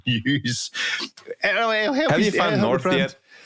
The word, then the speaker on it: N3W5: Refuse to participate in the nonsense which is pronouncing this as news.